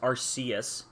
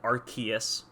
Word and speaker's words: Arceus: When when Lucy is is like rubbing Pikachu he says Arceus instead of Arkeus interestingly.